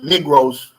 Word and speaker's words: Negros: negroes you know and it's but we we pronounce it negros occidental negros oriental but that's where the name comes from